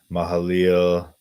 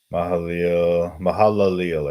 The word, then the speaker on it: Mahalaleel: You know, but in First Chronicles they spell it Kenan. So then going down, Mahaleel, 840 years. Mahalaleel, I should say, Mahalaleel.